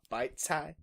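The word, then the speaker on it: 白菜: Although it's kind of funny hearing called bok choy because, like, in Chinese class, they tell us it's pronounced bite cai.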